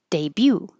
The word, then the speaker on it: debut: Debut. We don't say the t and the stress is on the second syllable. Da da. Debut.